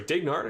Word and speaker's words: Dignard: rich felino in 15th ignored in 16th or sorry dignard i should say i want to make sure i pronounce his name correctly because i think i've been saying it wrong for a while then it's jonathan patron